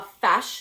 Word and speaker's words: feis: So it's actually pronounced a feis now, that's what we call it, and we still use that term today.